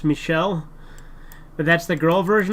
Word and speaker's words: Michel: read that already um Trudeau's brother was named Michael but my parents said it's pronounced Michelle but that's the girl version of Michael it's